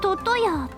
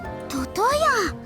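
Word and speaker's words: 魚屋: それより健介様、魚屋トトヤと読むのですよ。トトヤ。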